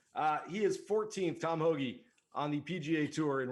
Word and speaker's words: Hoge: come on i'm going hogecoin to the moon pronounced hoagie i'm calling it hogecoin uh he is 14th tom hoagy on the pga tour in round one scoring